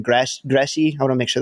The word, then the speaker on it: Gramsci: Gramsci. I want to make sure that I'm pronouncing it. Gramsci, thank you.